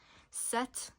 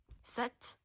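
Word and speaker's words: sept: Set. Don't pronounce the P. Set.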